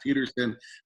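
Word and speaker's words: Pettersson: He wants it Peterson.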